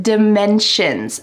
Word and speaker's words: dimensions: Let's take a look at this word dimensions. First, the pronunciation.